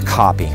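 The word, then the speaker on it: kopje: exhibit is is that we talk about the copy which is spelled k o p j e the copy is a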